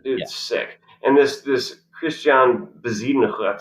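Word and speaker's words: Bezuidenhout: And this Christian Bezidenhut, I believe that's how you pronounce that. Yeah. That H is more of a ch.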